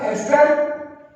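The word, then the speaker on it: ester: ये कंपाउंड क्या था, C डबल बॉन्ड OR, इसका नाम क्या था, एस्टर, कुछ बच्चे ईस्टर भी बोलते हैं, मैं तो एस्टर ही बोलता हूँ, प्रोनाउंसिएशन अपना अपना, ठीक है।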